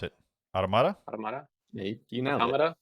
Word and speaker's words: Automata: how do you pronounce it? Automata? Automata?